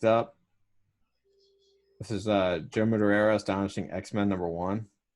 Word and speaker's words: Madureira: moderate that was magic can you say his name madura is how I've always said it Jo mad it's mad mad Araya though matter reira Joe Madureira yeah so this is